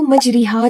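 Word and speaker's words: مجريها: लोग इस वर्ड को मजरीहा जैसे लिखा गया है आप उसको ऐसे ही पढ़ते हैं तो आप गलत पढ़े इसका जो करेक्ट प्रोनाउंसिएशन होगा ये होगा मजरेहा ना कि मजरीहा अब ये कैसे आप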